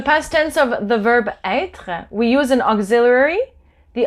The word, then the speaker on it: être: the word not as être, but as être. So when there's an accent circonflexe on the E, it's the sound E and not E.